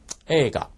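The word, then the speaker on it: 映画: 들어가도록 하겠습니다 자 먼저 에가 이거는 영화가 되겠죠 그리고 아이 발음 하실 때 이제 항상 주의를 하셔야 되는데 요거 가라고 써 있지만 실제 발음은 에가라고 발음이 된다는 부분입니다 꼭 좀 명심해 주시고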